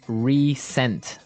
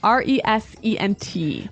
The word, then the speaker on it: resent: is spelled exactly like re-sent like with an s right that's right r-e-s-e-n-t but you pronounce it like a z resent resent that so